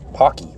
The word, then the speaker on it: Paqui: they're either it's like they say it's like pronounced like hockey but it's hockey that's what they call